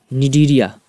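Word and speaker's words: Cnidaria: अगला है निडीरिया। ये सी से शुरू होता है लेकिन सी साइलेंट होता है।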